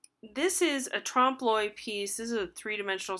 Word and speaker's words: trompe-l'oeil: There's also trompe-l'oeil. That's this word right here. There's not really an L. It's a weird pronunciation.